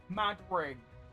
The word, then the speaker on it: Madring: It's pronounced mad ring. Why do they just call it the Madrid ring? I feel like that rolls off the tongue so much better than mud ring or mad ring.